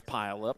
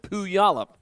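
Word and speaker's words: Puyallup: up my pile up it's spelled like it's pile up but it's not pile it's poo yolop washington and the two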